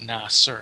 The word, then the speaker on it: Nasir: with the meaning of the name the name Nasser is Arabic and it means a person who either AIDS defends or renders support in some way all right it's pronounced Naser if you pronounce it Nayer it completely changes